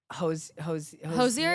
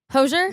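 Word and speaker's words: Hozier: pronounce that for me Hosier is he Irish hoser no no no Hosier Hosier Hosier do you believe that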